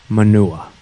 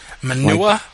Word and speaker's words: Manuwa: out that it's pronounced manuwa manua like you're from the ghetto and you're saying manure I think you're just